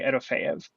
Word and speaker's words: Erofeev: match notes, I think the way they do it phonetically is not quite right. But if you just imitate what Dimitri says, to me, I would say Erofeev.